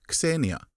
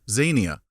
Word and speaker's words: xenia: The Greeks called it xenia. The British, bless them, pronounced it zenia, and that's the way I'm going to call it.